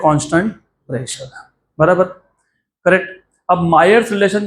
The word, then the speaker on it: Mayer: topic है मायर्स relation ये मेयर नहीं है ये मायर्स रिलेशन है अभी पता नहीं लोग कैसा कैसा प्रोनाउंस करते हैं कोई मेयर बोलता है कोई मायर्स बोलता है व्ट ever it is okay ट्स नॉट मेयर ठीक है एनीवेज लेट्स